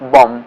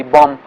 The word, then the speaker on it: bomb: for example the word bomb uh is or column end in b b b letter but this b letter is not pronounced bomb we say bomb and and say knife